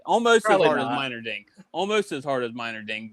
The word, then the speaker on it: Meinerding: We are also joined by Meinerding. Did I say it right? I pronounced You got it right.